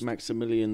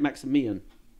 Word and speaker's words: Maximian: That's it, Maximian, rather than Maximilian. How many is that then? Well, there's just no L's, that's all I'm saying, no millions. Maximian would be how you say it, sorry.